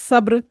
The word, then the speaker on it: صبر: لفظ آئے گا صبر، اگر ہم نے اس کو سین جیسے ادا کر دیا صبر، تو یہ تلفظ غلط ہوگا کیونکہ ہم سین سے صبر نہیں پڑھیں گے، صبر کے لیے بولیں گے صبر، صبر.